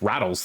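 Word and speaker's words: Ratel: I believe it's rattles, though. It's pronounced rattles.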